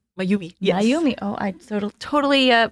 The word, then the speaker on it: Mayumi: Would you mind telling us a little bit about Nurse Mayum? Mayumi. Yes. Mayumi. Oh, I totally butchered that.